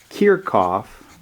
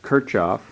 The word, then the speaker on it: Kirchhoff: pronounce this gentleman's name I was always taught that it was called tear cough a German name some pronounce it Kirchhoff but he has a